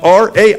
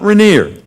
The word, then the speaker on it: Rainier: Mount R-A-I-N-I-E-R, Mount Rainier.